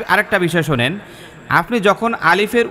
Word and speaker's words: আলিফ: আলিফ যখন আমরা উচ্চারণ করব এই আলিফে কোন ধরনের টান থাকবে না। একেবারে ক্লিনভাবে উচ্চারণ করতে হবে এবং এইটার মধ্যে আপনার কোন ধরনের কি বলে টান দেওয়া অথবা অপরিষ্কার এই জাতীয় কিছুই থাকবে না। একেবারে নিখুত হবে এবং উচ্চারণটা খুব কাটা কাটা হবে। পরিষ্কার হবে।